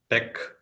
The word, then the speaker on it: TeX: so coming to the word Tech the where Tech comes from the Greek letters t from the Greek to E from Epsilon and X from Kai so it is pronounced Tech that is why it is pronounced as Tech